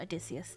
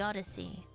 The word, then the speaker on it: Odyssey: Oh, it's the Odyssey, not Adysius.